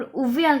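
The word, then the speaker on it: Avial: He named it एव्याल, जिसे वहाँ पर उव्याल कहते हैं।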